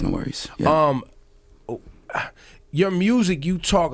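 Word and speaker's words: NxWorries: NX Worries. Pronounced No Worries.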